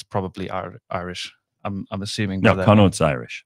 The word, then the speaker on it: Connacht: And then the away South African teams, the Lions, they played, I don't know how to say this, Connacht. Connacht.